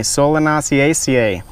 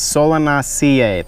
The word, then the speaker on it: Solanaceae: It is from a different family, Solanaceaceae, or Solanaceae, I pronounced that wrong. Anyways, Solanaceae, there's 1 C, and all right.